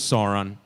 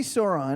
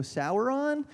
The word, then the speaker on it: Sauron: Greg so you see Sauron everyone here knows how to pronounce that but as a kid you might read that and go sour on like did did you